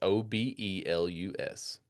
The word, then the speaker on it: obelus: Now, is it Okay, so how do you spell that? Is it obelus? obelus O B E L U S Okay, obelus.